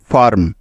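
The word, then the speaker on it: firm: নিয়ে নিলাম আকার সুতরাং এফ আই মিলে হয়ে গেল ফা তারপরে আর আছে সেজন্য নিয়ে নিব র এবং সবার শেষে আছে এম যার জন্য নিতে হবে ম তাহলে এফ আই আর এম একত্রে মিলে উচ্চারণ হবে ফার্ম ফার্ম যাকে বাংলায় লেখার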